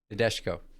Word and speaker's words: Nadeshiko: Nadeshiko. There we go. I cannot pronounce anything once again.